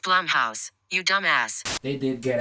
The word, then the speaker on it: Blumhouse: i just realized this is a bloomhouse movie it's pronounced blumhouse you dumbass they did